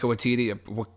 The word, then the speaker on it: Waititi: And you did say his name correctly. Oh, I did. Okay, Taika. Is it Waititi or Watiki? Is it Waititi? Titi.